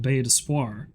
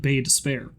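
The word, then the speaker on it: Baie d'Espoir: It's called Basis. That's how it should be pronounced, which essentially is like I mean it's only partially in French.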